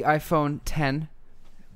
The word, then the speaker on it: iPhone X: nice to see so the iPhone 10 with that is a Roman numeral X not pronounced X though just like Mac OS